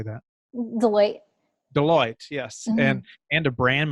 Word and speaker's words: Deloitte: Deloitte, yes, Mm-hmm.